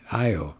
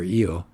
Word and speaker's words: Io: They said, just take a look at the moon Io or EO, whichever way you want to pronounce it, that goes around Jupiter.